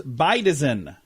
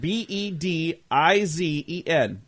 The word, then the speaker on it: bedizen: B-E-D-I-Z-E-N. Beidizen. Wouldn't it be bedizen? Bedizen. Their phonetic spelling is like B-I, and then capital D-I-E, then lowercase Bedizen? Bedizen. Bedizen. Huh. Okay. So I was saying it wrong.